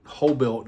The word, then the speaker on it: Hoblit: Uh directed by Gregory Hoblit, Hoblit, I believe is how you say his name, who also directed another